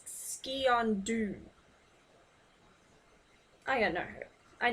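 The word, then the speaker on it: sgian dubh: And despite what you may be inclined to pronounce that as, it's Skiondu.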